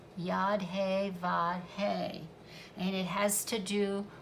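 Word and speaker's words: Yod He Vav He: It is pronounced Yad-He-Vad-He, and it has to do with all four elements and the creation process.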